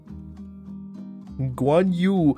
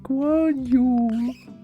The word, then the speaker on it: Guan Yu: Yu is like you, but you know you and then 2 dots on top. That's yu.